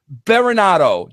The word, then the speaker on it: Berenato: WWE's Tough Enough and I'm talking about Daria barado Daria are you there are you there what's going on Vince you actually pronounced my name right you must be Italian